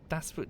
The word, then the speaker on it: Das Boot: My pronunciation of Das Boot is horrible. You're basically saying boring with a T at the end after the O. It's fine. Das Boot.